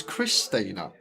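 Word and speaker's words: Xtina: It looks like an X. It's spelled X-T-I-N-A. She's probably right, Lime. It's probably maybe because X is a bit like a cross, and cross sounds a bit like Chris. So Chris Tina.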